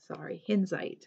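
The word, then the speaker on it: Hinzeit: Okay, the second one is Welcome to the Lake by Hinzite, that's the correct way to say it.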